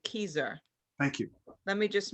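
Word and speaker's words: Kieser: for me please hmm i think it's k-i-e-s-e-r and she told me you pronounce it keizer thank you let me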